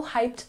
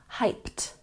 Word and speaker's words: hyped: say it with me hyped hyped even though it has the Ed ending it makes the T sound once again hyped number